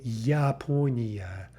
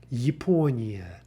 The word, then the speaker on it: Япония: This is another nice example because we have that initial unstressed yeah. And so we don't say Япония. Yeah. well, let's pronounce it as written. Yaponia, right? But it's not. We actually don't have a ya sound anywhere in that word. We have Yaponia, Yaponia, Yaponia for Japan.